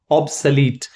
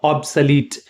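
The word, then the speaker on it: obsolete: Next हमारा कहता है find the synonym of ऑब्सलीट। यहां पे इसका प्रोनाउंसिएशन पे थोड़ा ध्यान देंगे। ऑब्सलीट, सलीट, ऑब्सोलीट नहीं, ये ध्यान रखना है, ऑब्सलीट।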